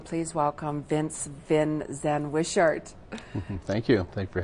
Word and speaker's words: Wishart: And everyone, please welcome Vince Vin Zen Wishart.